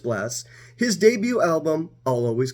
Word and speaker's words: Blxst: this time we're reviewing blast spelled blxst but pronounced blast his debut album I'll